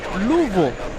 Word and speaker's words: Louisville: There's an interesting way of saying Louisville. Louisville. It's like It's not really three syllables. It's like two and a half.